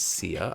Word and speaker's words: Siaha: And I don't know if you know, my name is Sia. I used to just spell it S-I-A. It is spelled S-I-A-H-A, but I used to just spell it S-I-A.